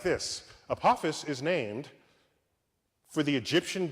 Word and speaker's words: Apophis: Apophis I get to say it like this Apophis is named for the Egyptian god of death